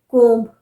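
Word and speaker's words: comb: क्योंकि ब को हम प्रोनाउंस करते हैं जबकि होता नहीं है। जैसे कोम्ब, कंघी, कोम्ब, कोम्ब नहीं, कोम्ब, कोम्ब।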